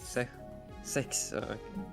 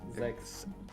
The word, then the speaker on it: sechs: sex. Sechs. Sex. Okay. Sechs. What? What? Sex? Nein, Sechs? kein X, no X, no X.